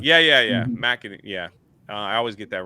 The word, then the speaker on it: McEnany: Kaylee McEnany. Yeah. McEnany.